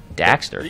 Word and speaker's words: Daxter: First of all, it's pronounced Jak and Daxter. Daxter? Thank you very much.